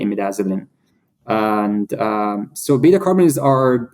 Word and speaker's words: imidazoline: is a receptor called imidazolin. How do you spell that? It's IMIDAZOLINE. IMIDAZOLINE. Yeah. Imidazzling. Okay, as it sounds.